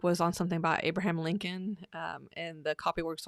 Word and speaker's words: Lincoln: of it we had discussed that Lincoln has a silent letter in it that second L when it came to